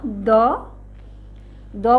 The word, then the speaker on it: দ: সবাই আমার সাথে বলো, দ। দ বলতে কিন্তু অ উচ্চারণ আসে, খেয়াল করেছ?